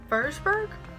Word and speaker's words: Würzburg: She started a medication in 1973 for this, and then she goes to the University of Würzburg? It's spelled like this, but German, the W makes a V.